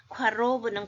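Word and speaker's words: קָרוֹב: the Broken heed 앞에 로브는 가까운데 프는 발음을 할 때 영어에 할 때처럼 어 안 하죠 하듯이 약간 발음처럼 발음하면 좋습니다 로브 가깝다 누가데 아나로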